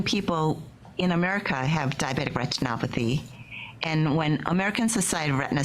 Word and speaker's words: retinopathy: correctly what is diabetic retinal therapy is that how you say it it's diabetic retinopathy it's literally translated as